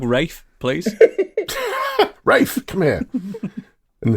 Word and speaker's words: Ralph: Because it says Ralph, and I've got a dog called Ralph, and it just makes me think of Ralph. Oh, yeah. Well, start calling your dog Rafe, please.